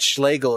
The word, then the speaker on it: Schlegel: People think that Schlegel is just a made-up name because it rhymes with Hegel, but no.